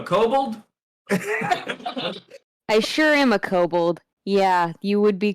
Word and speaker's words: kobold: there you a kobold i sure am a kobold yeah you would be correct and that's the right pronunciation too the best friend that i could